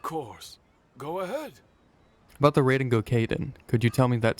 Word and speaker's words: Raiden Gokaden: The once renowned Raiden Gokaden, That's how you pronounce it.